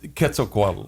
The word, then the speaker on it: Quetzalcoatl: known as quetzalcoatl would read how do you pronounce that again quetzalcoatl okay would return to earth well what does